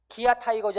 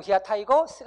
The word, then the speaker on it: 기아 타이거스: 해야 되요 아이온 쓰 기아타이거즈 아니고 기아 타이거스 가봤습니다 다음 보시겠습니다 아